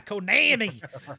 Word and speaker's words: Konami: Konami.